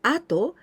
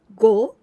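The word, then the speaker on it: 後: do the other thing this kanji here we pronounce ato but we can also pronounce go like gogo afternoon or also ushiro the backside tafoom take a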